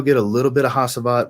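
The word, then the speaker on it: Hacivat: a little bit of hasabat well hachibat's technically the right way to say it hachibat and aventis but it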